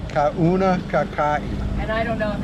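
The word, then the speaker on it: Kaunakakai: yeah, Kauna Kakai. Kauna Kakai. And I don't know if that's the correct pronunciation.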